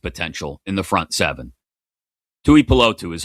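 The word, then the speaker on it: Tuipulotu: Touotu is how you say it.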